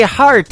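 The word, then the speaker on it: Harte: That is the latest single from my good friend Robbie Hart. It is H-A-R-T-E on her last name, and that is called Heart in Two Places. Yeah, just like your heart. That's how that's spelled.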